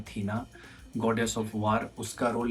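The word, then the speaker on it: Athena: बहुत लोग अथीना भी कहते हैं बट शायद ए साइलेंट होता है थीना।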